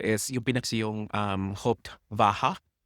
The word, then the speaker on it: Hauptwache: So yung station dito is yung pinak yung um Hoped Vaha or Hopewai if you're pronouncing it the um American or English way. But you know why not pronounce it as the Germans do?